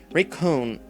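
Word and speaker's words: 霊魂: or spirit that is called recon recon rather raycon if we're using japanese pronunciation raycon upon a person's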